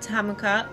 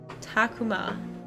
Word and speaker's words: Takuma: kid's imagination for real what do you think tamuka or ma i said it wrong dyslexia takuma let them have fun we should stop